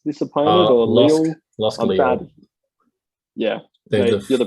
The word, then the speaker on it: Lille: Lille. Yeah. You're the pronunciation man.